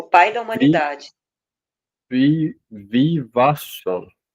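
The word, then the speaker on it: Vivasvān: E Visvavan ensinou a Manu, o pai da humanidade, Vivasvam. Visvasham. Não, Vivasvam. Vivasvam. Vivasham. Não, sem o S no começo.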